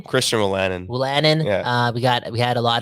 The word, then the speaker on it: Christian Wolanin: Christian Wolanin.